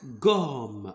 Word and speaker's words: gomme: Pourquoi ici la lettre G se prononce comme G? Pourquoi? Parce qu'on a mis devant G la lettre ou bien la voyelle O.